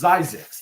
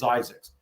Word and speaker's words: Zzyzx: It was actually named, and it's pronounced Zyzzyx. Let's get that squared away. Okay, Zyzzyx. Okay. ZYE-ZIX. So it's pronounced Zyzzyx.